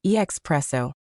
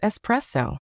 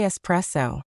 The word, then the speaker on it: espresso: The correct pronunciation is espresso. You want to make a smooth, soft S sound at the beginning.